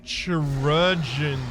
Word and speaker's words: chirurgeon: From a chirurgeon's. Is that how it's pronounced? I was told last time that it's pronounced the same way as surgeon, but it can't be exactly